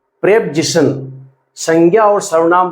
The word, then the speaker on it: preposition: जी बिल्कुल सही सुना, इसको प्रेपजिशन कहते हैं। करेक्ट प्रोनाउंसिएशन जो है इसका प्रेपजिशन। अधिकांश बच्चे इसको प्रीपोजिशन पढ़ते हैं जो कि गलत है। आप ध्यान रखें, इसका करेक्ट प्रोनाउंसिएशन करें प्रेपजिशन।